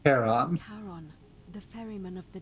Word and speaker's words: Charon: The name you heard wasn't Karen. Oh, Jesus. It was C-H-A-R-O-N, as in Charon.